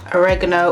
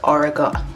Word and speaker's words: oregano: Oregano or if you're from the States, oregano. No, Americans say oregano and British we say oregano.